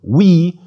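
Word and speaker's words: υι: And finally, upsilon iota is pronounced like the English word oui, or the French oui.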